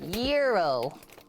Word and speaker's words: gyro: being very picky yeah gyro the g is silent just got mount fuji